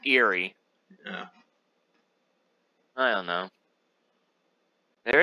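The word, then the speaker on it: Aerie: places like what's the airy peak what's that eerie peak it's pronounced eerie yeah i don't know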